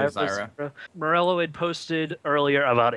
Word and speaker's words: Zyra: Am I pronouncing that right? Zyra, I'd say Zyra.